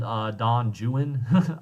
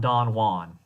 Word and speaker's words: Don Juan: famous poem is called Don juin is how he would have pronounced it it's on Don Juan um the famous Austrian